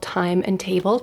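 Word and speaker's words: Thyme and Table: It's called Time and Table. Time obviously spelled like the herb.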